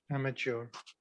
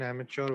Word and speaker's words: amateur: Kishan, pronunciation is wrong. Amateur नहीं आएगा, amateur. Mature की spelling होती है MATUR, इसमें हम mature नहीं बोल सकते, mature, amateur. Okay? TUR पढ़िए सिर्फ.